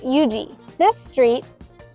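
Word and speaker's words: Huger: for example pronounced lree and this street is pronounced Yuji this street is pronounced vandr this street is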